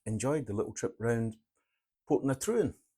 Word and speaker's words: Portintruan: the little trip around put Trin as it's pronounced and not spelled